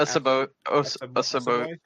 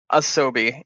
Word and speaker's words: Asobi: Was it Asobi? Is that how you say it? Asobo. No, Asobi.